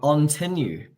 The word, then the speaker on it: Ontinue: founder of Tiberia but on tenu is how you say that name yes there is a lot of confusion out there but we can debate it all day but there is one way to say that yes we only have